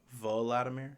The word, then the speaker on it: Volodymyr: Volodymyr?